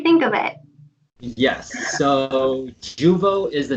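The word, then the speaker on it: Jeuveau: Yes, so Juvo is the name of the new Botox essentially that's out.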